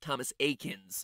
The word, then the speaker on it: Thomas Eakins: Pokemon reference there because his name is pronounced Thomas Eakins Thomas Eakins who created